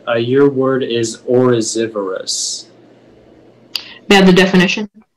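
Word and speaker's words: oryzivorous: Orosivorous is new. Yeah, it's new Latin plus Latin. Are there any alternate pronunciations?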